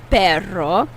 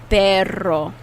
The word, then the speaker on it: perro: say dog in spanish you have to roll your tongue and get that r dog in spanish is perro perro how do you